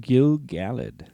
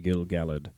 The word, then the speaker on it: Gil-galad: also known as Ereinion Gil-galad. And here's the thing. I grew up saying Gil-galad. And for this episode, I'm going to try to say Gil-galad because I'm pretty sure that's the correct pronunciation, yeah?